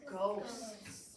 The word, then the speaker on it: ghost: yell it to me ghost that's a wild old word with our silent GH what did I do